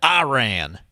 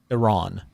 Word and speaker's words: Iran: me for calling it Iran, as my hillbilly was coming out when I was working over in Frederick County, Virginia, Winchester, Virginia, actually. And it's Iran is the proper pronunciation of the country.